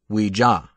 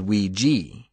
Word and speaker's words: Ouija: Alternately pronounced Ouija and Ouija, its origin raises another question mark.